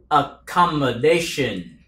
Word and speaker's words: accommodation: accommodation, accommodation, accommodation, accommer, nó dùng âm a dài các bạn, âm ơ ngắn, accommer, nghe âm ờ ngắn, nói làm sao thì trong này ngắn nó cũng nói vậy, accommer, accommer, chữ come nhấn nhẹ nó, ha, accommodation, cái chữ day này mới là cái âm nhấn chính, nghe các bạn, nè,